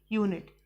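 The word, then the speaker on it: unit: यू का जो यहाँ पर उच्चारण हो रहा है ये या हो रहा है, यूनिट, आ नहीं हो रहा।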